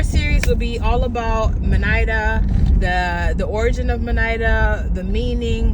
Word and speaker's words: Minaida: I get home so Manida it's spelled m i n a i d a period manid phonemically when you pronounce it it's not a hard a most Americans pronounce my name uh Mana so Manida is a